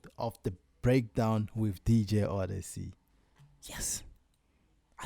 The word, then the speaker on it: Odyccy: I'll see you guys on another I'll see you guys on another episode of the breakdown with DJ Odyccy.